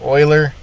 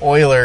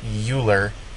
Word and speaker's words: Euler: historical note this is named after man Lenard Oiler uh he's a Swiss mathematician extremely talented the name Oiler is pronounced just like that Oiler it's not uler don't say uler okay it's boiler okay remember